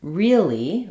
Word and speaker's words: really: move to the word really really it's not really like a real and an e it's more like really really where we either say the e sound twice really or we often